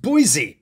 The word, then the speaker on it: Boise: Although apparently it's pronounced Boise, which is also one of these.